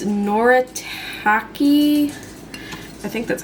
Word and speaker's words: Noritake: It's Noritake. I think that's how you're supposed to pronounce it.